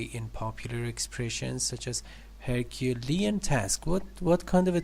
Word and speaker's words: Herculean: Herculean. Yes, Lean. Okay. Lean, Herculean. Yes.